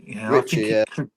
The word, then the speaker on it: Txiki: I keep forgetting Ricky. Richie, Richie is how it's pronounced.